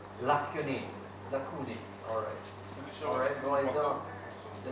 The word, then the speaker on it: lacunae: Lacunae, Roy, that's the correct pronunciation? Lacunae.